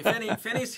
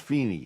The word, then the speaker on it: Feeney: Okay, Finney's here. Feeney, Italian. Spelled American. Finney, but pronounced Feeney. Except on St. Patrick's Day.